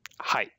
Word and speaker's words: はい: Same as in English. Anytime you would like to say yes, you would say はい。 hi.